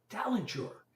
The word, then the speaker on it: Talenture: And Talenture is spelled like the word talent with ur at the end. T A T A L E N T U R E Tenture.